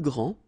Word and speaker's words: grand: Okay, so phonetically, what you can hear is that this first form here for the masculine, grand, so you don't pronounce the final D, will be exactly the same as the plural form for the masculine, grand.